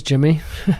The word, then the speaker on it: Jimi: exactly my name is jimmy my name is spelt j-i-m-i my last name is